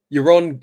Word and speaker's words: Yaron: I actually forgot how I said it. Was it Yaron? Yeah, I think you said Yaron. Yaron. Yeah, Yaron. Okay.